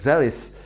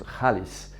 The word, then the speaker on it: Xaalys: are promoting is that zealous actually pronounced Hollis it means money Jean